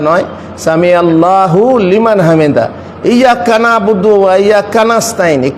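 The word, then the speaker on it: إياك نعبد وإياك نستعين: ইয়াক্কা নাবুদু ওয়া ইয়াক্কা নাস্তাইন, কানাবুদু কানাস্তাইন নয়। কাউকে আপনি কানাবুদু বলে দিচ্ছেন তো ভারী মুশকিল, তো এইরকম না, বলা ইয়াক্কা নাবুদু ওয়া ইয়াক্কা নাস্তাইন, সঠিক উচ্চারণ।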